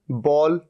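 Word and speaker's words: bowl: थोड़ा सा अलग है बी ओ डब्लू एल यह होता है बोल और मैं यह कह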